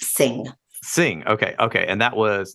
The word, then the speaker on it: Singh: Her name is pronounced Singh.